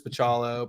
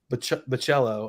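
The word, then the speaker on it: Bachalo: Marvel Generation X Chris pachalo but oh yeah Chris the cello I think is the correct I've learned recently and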